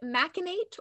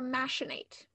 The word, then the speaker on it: machinate: It can be said machinate or machinate.